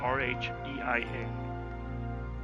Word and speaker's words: Rhein: R-H-E-I-N. Rhein. I'm going to say that's pronounced with the silent H, long R, like, and sound like 9.